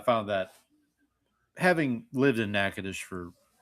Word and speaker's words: Natchitoches: And apparently the hardest word for them to pronounce was Natchitoches.